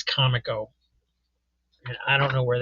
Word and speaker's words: Comico: Pray to keep hearing more and more people pronounce this Kamiko. That is not correct. I'm sorry. It is como.